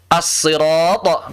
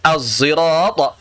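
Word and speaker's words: الصراط: Ada 3 cara baca. As-sirat pakai shad, as-sirat pakai sin, az-zirat pakai shad yang bercampur dengan zai.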